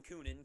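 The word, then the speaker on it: Kunin: come from the Predators I call him coonan because I think that's the way it should be pronounced I know people say it's cunning but I don't care so Luke coonan was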